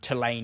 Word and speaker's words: Tulane: lakes within just a few hours drive of Tulane University that's how you pronounce it but somehow here they're driving a